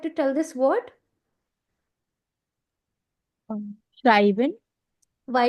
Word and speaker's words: schreiben: Schreiben. Why it's not Shriban? क्योंकि यहाँ पे E और I है, तो ये I की तरह pronounce होगा, right? So it's that is why it's Shrai, I, Schreiben.